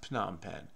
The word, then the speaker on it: Phnom Penh: Okay, so it's pronounced Phnom Penh.